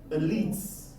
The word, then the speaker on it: elite: A lot of people do mispronounce this word, but the right pronunciation is an E, elite.